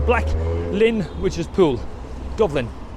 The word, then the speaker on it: Dublin: Dublin, not Dublin, but English speaking will always refer to that, will pronounce b, where in Irish it's pronounced with a V or an F sounding, so it's Dublin.